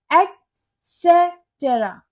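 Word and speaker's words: etcetera: एक्सेट्रा, ये एक्सेट्रा नहीं होता, ये होता है एटसेटेरा।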